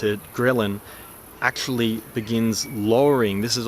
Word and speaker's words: ghrelin: hunger hormone ghrelin I think that's how you pronounce it ghrelin actually begins lowering this is a hormone that